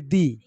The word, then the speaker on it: the: অনেক সময় উচ্চারণ করি দ আবার অনেক সময় উচ্চারণ করি দি এটার রহস্যটা কি না এমনে না মা দেখো আমি ছোট্ট একটা উদাহরণ দেখাই যেমন দ্যা বয় কারেক্ট কারণ এই বি টা হচ্ছে কনসোনেন্ট